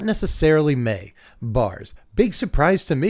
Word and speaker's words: Mai: Avatar Standard's going to be, it's gonna be May, which is apparently how you pronounce this card's name.